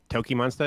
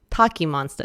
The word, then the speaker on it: TOKiMONSTA: artists named pronunciation like toki monsta is that correct yeah that's right but some people say like taki monster that's a really british way of saying it's taking monster i'm